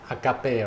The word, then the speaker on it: agape: in Western culture that this term you pronounce as Agape right aape it's a Greek term it's a GRE girl